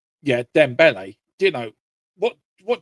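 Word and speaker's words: Dembélé: are bringing on Dom um Ramos and um Donle is it Donle? Sorry, maybe I'm getting his name wrong. Yeah, Dembele.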